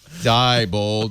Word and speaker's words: Diebold: Wow label us and told us how to pronounce it I think it's people Diebold Diebold machines that don't have a paper trail